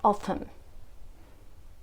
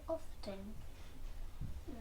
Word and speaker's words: often: And that one, how do you pronounce it? Often. Many people pronounce it often. Some people pronounce it often.